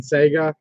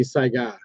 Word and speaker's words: Saiga: So I don't think they actually say Saiga on them, which is the right way to pronounce it, by the way. I always get caught saying Sega, but it's actually Saiga.